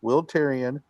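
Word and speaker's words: Wil Tirion: though 470 nanometers and a will tyrion i pronounced it correctly will tyrion yes you did multi latitude large planisphere so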